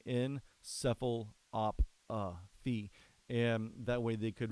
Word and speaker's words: encephalopathy: They're like encephalopathy. I'm not sure how to pronounce that. So the other anchor went and looked up how to pronounce it. And you actually pronounce it encephalopathy.